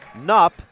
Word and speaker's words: Knupp: And I will say, I think I am pronouncing it wrong. It is Grace Knupp and Lindsay Knuth.